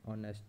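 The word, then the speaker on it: honest: उसकी एग्जांपल देता हूँ, जैसे एन ऑनेस्ट मैन, जिसमें एच जो है वो साइलेंट है इधर, और ये आवाज़ निकाल रहा है अ की, और ये इसकी वॉवल्स की साउंड के साथ मिलती है।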